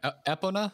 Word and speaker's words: Epona: was the Pony's name eponia apona oppona yeah Epona I think is the correct pronunciation it was a voice